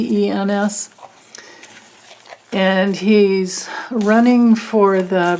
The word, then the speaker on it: Greitens: Okay, so she wants to know if Eric, I think his name is pronounced Greitens. It's Greitens.